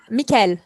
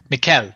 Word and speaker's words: Mickaëlle: Travis mallum how do you say your name Mikel Mikel hey Mikel how are you doing today I'm